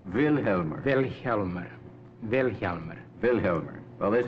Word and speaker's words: Vilhjálmur: Vilhjálmur. The accent's on the first syllable. Vilhjálmur.